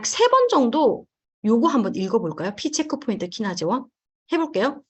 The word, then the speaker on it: PCHK1: 요걸 어떻게 읽냐면 P, 체크포인트, 키나제, 원이라고 읽어요. 제가 채팅창에 칠게요. 잠깐만요. P 체크포인트 키나제 1.